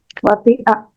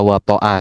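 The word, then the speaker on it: وطئ: Fi'il madinya apa? Wati'a. Ya, tapi ada yang baca wato'a, silakan.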